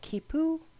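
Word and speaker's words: quipu: is how things were communicated these are called kipo I looked it up that's how you pronounce it and it is a 10 based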